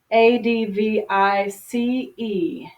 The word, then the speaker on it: advice: making myself dizzy okay the noun form you notice has C advi c e and the pronunciation sounds like s advice okay the verb form